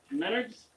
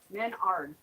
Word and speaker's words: Menards: Menards. Minards? Menards. Menard, like manure, but Menard.